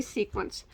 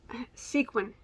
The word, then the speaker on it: sequin: I say sequence. I know that's not right. So sequin. Sequin. I've been told so many times to quit saying it that way.